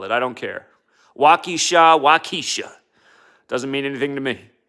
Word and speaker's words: Waukesha: in wisconsin somebody out there is like it's pronounced walkie-shaw okay okay walkie-shaw however you want to call it i don't care wakisha waukesha doesn't mean anything to me but um this